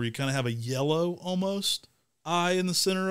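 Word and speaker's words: Jeddeloh: we've got jedolo orange or really should be pronounced yellow orange because it was named after yellow Nursery but often pronounced in the nursery trade as jetalo Orange another dang underrated tree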